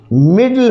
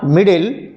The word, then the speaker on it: middle: इट is pronounce little, मिडल होता है MIDDLE, इट इज़ नॉट मिडिल, इट इज़ मिडल, इट is little.